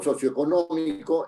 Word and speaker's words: socioeconómico: digo socioeconómico Es evidente Es evidente que el acento va en nómico no O sea no en no no en la ode no de la sílaba no porque es una palabra esdrújula No si yo digo